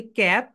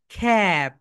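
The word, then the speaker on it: cap: আমরা সবাই বলি ক্যাপ, ক্যাপ, ক্যাপকে কিক আউট করে দাও, খ্যাপ। রাইট প্রোনাউন্সিয়েশন হবে খ্যাপ, খ্যাপ।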